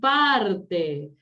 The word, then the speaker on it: parte: Parte es grave, ¿sí? Parte, perdón. Parte es una palabra grave. ¿Por qué? Es grave porque está acentuado en la penúltima sílaba, ¿sí? Y termina en vocal, no lleva tilde.